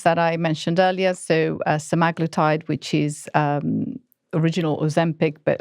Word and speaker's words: semaglutide: But it really, and the first one we heard about was Ozempic, semaglutide. How do you pronounce it?